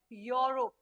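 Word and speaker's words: Europe: तो please pronounce करो इट इज नॉट यूरोप इट इज योरो योरोप योरोप अगर हिंदी में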